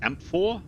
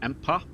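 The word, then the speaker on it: amphora: Is it pronounced amphor or ampa? Amphor for wine.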